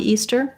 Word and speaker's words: Easter: And then Easter, this ea typically says the tense e sound. First syllable stress. So e and then stir, stir. It's basically a tight back sound. So it's like the word stir, like stirring a pot, with a long stressed e before it.